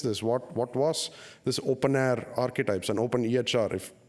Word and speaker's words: openEHR: fhir is pronounced fire open EHR is pronounced open air usually open air and